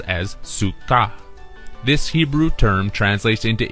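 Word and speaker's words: סוכה: be written out as sua and is phonetically pronounced as Suka this Hebrew term translates into English as Thicket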